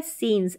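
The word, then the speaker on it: scenes: द सीन्स, अब ये है सीन्स, ऐसे यहाँ पर साइलेंट है, दृश्य, द सीन्स ऑफ,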